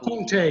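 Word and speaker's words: Comté: Comte, yeah. So Comte is spelled C-O-M-T-E, and it's a mountain cheese that's made just like 100 kilometers to the west, and it's very similar.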